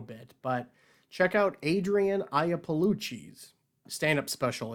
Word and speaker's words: Iapolucci: But check out Adrienne Iapolucci's stand-up special. It's free on YouTube. It's called Baby Skeletons. Her name again is Adrienne. That is spelled the Italian way. Adrienne. Iapolucci. That is Iapalucci.